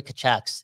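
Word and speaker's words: Tkachuk: do man Dr Zeus kachuck even rhymes with kanuck the Vancouver kachuck it could have been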